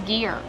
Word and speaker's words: gear: Gear, use the hard G sound like gas and go, plus the long E, ear, like your ear. Together, gear.